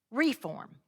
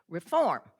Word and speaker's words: Reform: Now, the word re e fo r m as far as general use in the English language is reform. The accents on the second half, but in Pickkins County, it's reform.